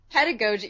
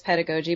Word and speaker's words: pedagogy: And so the most common pronunciation I heard was pedagogy, but then I also heard, I would just click on like pronouncing things online. And then I heard pedagogy, which I still hear. That drives me crazy. But what drives me more crazy is pedagogy.